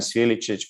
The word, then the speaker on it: Sviličić: This CC we are pronouncing always Ch, so this is confusing a bit. So I'm Ognjen Sviličić, Franco Jakovčević.